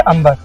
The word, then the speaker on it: Amer: का नाम रखा गया अंबर। बी साइलेंट इसलिए हुआ क्योंकि अंग्रेजों से अंबर बोला नहीं जाता था। तो उसमें से बी साइलेंट हो गए और ए एम ई आर अमीर हो गई।